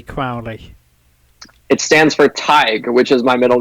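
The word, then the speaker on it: Tadhg: Crowley it stands for Tiger which is my middle name you're probably familiar with that name tige yes yes it's it's very it's it's Gaelic it's Irish no one from home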